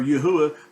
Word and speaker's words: Yahuwah: yahru yahru is where yahuwah that that ooh sound is there with that letter and it's not a w nor is it a v sound so um so we'll